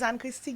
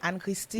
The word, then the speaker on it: Anne-Christie: Anne-Christie. I really like when people call me Anne-Christie. The whole thing. Not Anne Christie.